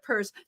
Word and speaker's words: Pierce: for an lgbtq organization have the word purse in it as in I've got a fabulous purse exactly the the Zimmerman purse Democrats um and we're gonna have to remind people of that because they're gonna like forget that they're gonna see it like I did and say Pierce instead of purse thank you both so